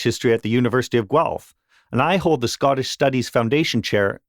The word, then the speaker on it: Guelph: So I work for a university called the University of Guelph. That's how it's pronounced.